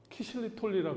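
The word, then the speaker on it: ksylitoli: 원래 핀란드에서는 자일리톨을 뭐라고 하냐면 키실리톨리라 그래. X를 키 이렇게.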